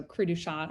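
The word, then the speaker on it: cri du chat: or credo chat um it's actually a french term so crew shot i think is the the proper way to say it um it's also called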